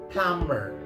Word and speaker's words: plumber: This one is supposed to be pronounced as a plumber. Plumber. Plumber. Silent B. Once again, silent B.